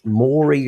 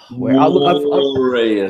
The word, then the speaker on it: Moree: from, I think it's Moree, Australia. Who have we got here, buddy? You're pronouncing it wrong, Magro. Moree, Australia.